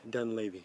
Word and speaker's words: Dunlavy: Dunlavy. Dunlavy. Dunlavy. Lavy. Got it. Just want to make sure I pronounce it right.